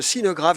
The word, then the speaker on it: Sineu Graff: Vous êtes le président de Sinograph, je l'ai bien prononcé.